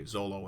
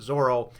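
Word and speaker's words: Zoro: it was a big faux pas to say zolo instead of zorro it wasn't the way it's pronounced blah blah blah i was actually informed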